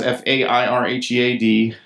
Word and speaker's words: Fairhead: Fairhead, and it's spelled like it sounds, Fairhead.